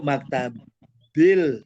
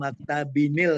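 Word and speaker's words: مكتبٍ: yang 3 kalimat mudiru maktabinil, sebetulnya maktabin bacanya kalau bahasa Arab kan maktabin, tidak disambung maktabinil kan, tidak. Ingat ya, kalau bahasa Arab itu tanwin dibunyinya tetap an in un supaya membedakan.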